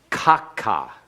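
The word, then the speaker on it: כָּכָה: thus or as follows notice that the accent is on the first syllable and then we have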